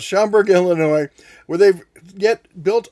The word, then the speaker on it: Schaumburg: Yeah, that one I know how to pronounce. Schaumburg, Illinois, where they've yet built another plant that is no longer in existence.